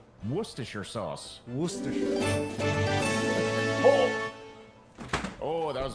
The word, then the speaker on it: Worcestershire: Also, can either of you pronounce Worcestershire sauce?